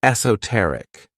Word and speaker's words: esoteric: The next word, which is another one of my favorite adjectives, is esoteric. This word has four syllables and the stress is on that third syllable, esoteric.